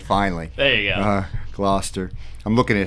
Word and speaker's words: Gloucester: yeah yeah right so I got it right Gloucester I remember now that uh Don butchered his wife and told me that that's